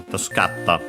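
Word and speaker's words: 助かった: Again, most likely first the U into I to make the continuative form Tasukarita, but then the I fell, and so Tasukarta, difficult to pronounce, so simply became the doubling of the following consonant, Tasukatta. Accented on the third to last mora, so that stays on the ka in this case.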